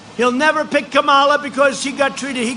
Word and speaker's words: Kamala: kamala you know if you pronounce her name wrong she goes crazy kamala like a comma it's like a comma